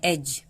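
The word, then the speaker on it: edge: इसे हम ब्रिज पढ़ते हैं, इसे हम पढ़ते हैं एज। एड्ज क्यों नहीं?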